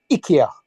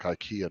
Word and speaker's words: IKEA: Ikea wanted it pronouncing Ika that just doesn't roll off the tongue like Ikea does it doesn't Ika yeah that just that doesn't sound right but it is the way it's pronounced in Sweden so well we're not